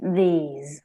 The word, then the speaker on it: these: These. Muy bien, que la pronunciación es similar, pero no es igual. Es this y these.